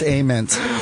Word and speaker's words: Ament: That's Jeff Ament. This is the jam. Yeah. You need another Amstel Light? I'm going to be right back. It's pronounced ament.